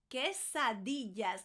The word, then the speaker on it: quesadillas: Now it has the que from queso, cheese, because they're made out of cheese. Queso, que. Que also means what, que. We don't say que, we say que. So queso, cheese. Quesadillas. Quesadillas. And make sure you're pronouncing the double L again.